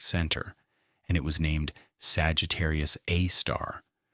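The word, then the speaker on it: Sagittarius A*: and it was named Sagittarius A star, with the star pronounced as the word rather than the symbol.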